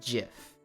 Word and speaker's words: GIF: Pronounced uh GIF with a G. I the creator gets to name it and he said it's GIF.